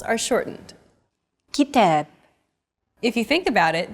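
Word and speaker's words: كتاب: rhythm of stressed syllables kitab kitab notice that the second syllable is stressed it's pronounced longer and louder while the first and final syllables are shortened kitab if you think about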